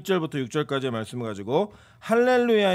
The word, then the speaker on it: 할렐루야: 겪는다는 얘기를 들은 적이 있습니다 이거 원래 이 할렐루야 는 원래 우리가 그 히브리 와 발음이 원래 그렇구요 또 이걸 이제 헬라어로 바른